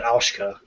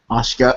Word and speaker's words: Asuka: Asuka. Did I get it? Yep, Yeah. got it. Oh, okay. A super... She said, no, I didn't say it like that. I said Aushka. Ashka.